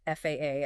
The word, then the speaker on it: FAA: Administration in the US, you absolutely cannot try to pronounce FAA as a word. No, no, definitely not. You must articulate it as F A A.